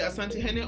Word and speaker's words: Asantehene: In those days, the Asantehene, how is that pronounced? Asantehene.